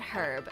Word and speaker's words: herb: The H in herbs is silent, by the way. What? No fucking way. You guys are lying to me. All my life, people have said herb and not herb.